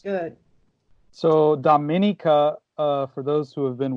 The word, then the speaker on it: Dominica: but the Oh after the D is is pronounced with an A so it's Dominica Domini comes and not confused with the Dominican